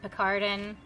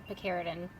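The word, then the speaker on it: Picaridin: Alright, last time I think I pronounced this Picardin and was a little bit poked fun of. Captain Picard salutes you. It's actually Picardin.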